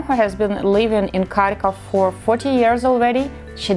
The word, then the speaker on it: Kharkiv: So the first confusion, how to say it correctly, Kharkov or Kharkiv? Kharkiv is a Ukrainian version, and you can see